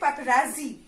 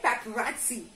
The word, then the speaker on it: paparazzi: I did not say paparazzi. I say paparazzi. Yes, there is additional sound of T here after R.